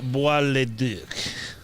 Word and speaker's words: Bois-le-Duc: My name is Bois-le-Duc.